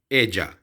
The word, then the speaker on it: ella: लिए इस्तेमाल होता है एजा, ELLA। लेकिन यहाँ पे हम जहाँ पे डबल एल आएगा उसकी प्रोनाउंसिएशन जे की तरह करेंगे, एजा, एला नहीं होगा, एजा।